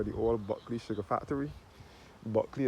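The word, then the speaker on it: Bulkeley: Buckley is spelled B U L K E L E Y.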